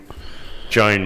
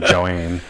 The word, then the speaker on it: Joan: uh you know thanks joanne last lap joan joan mate it's jo it's pronounced joan i call him joanne but the great thing about this race is